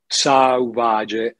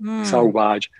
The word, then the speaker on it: Sauvage: Anche se era sbagliato, perché in francese dovessi metterci la U, Sauvage, come il profumo, no? Sauvage.